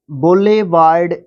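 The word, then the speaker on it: boulevard: हैं तो उसको बोल बोल लेवर्ड बोले वार्ड बोले वार्ड इस तरीके से आप इसको प्रोनाउंस करेंगे और इसका मतलब होता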